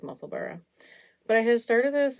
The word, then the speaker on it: Musselburgh: I'm through the increases, or a Muscle Burra, which I believe is the correct way to say it, the name of it, because it is named after a place. So I think it's Musselburgh.